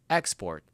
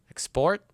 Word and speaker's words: export: Now, the general rule for these words is if it's a verb, put the stress on the second syllable, and if it's a noun, put it on the first syllable. For example, the first one right here is export as a verb and export as a noun.